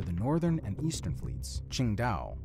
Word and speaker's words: Qingdao: The home ports for the northern and eastern fleets, Qingdao (pronounced as ching·dau) and Ningbo (pronounced as ning·bow), are cut off from directly accessing the western pacific by the Japanese archipelago and Taiwan.